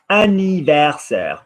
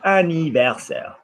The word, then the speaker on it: anniversaire: Anniversaire. Copy my word. Anniversaire.